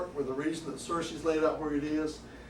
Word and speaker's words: Searcy: as far as i know it's always been cersei it was richard cersei he was a district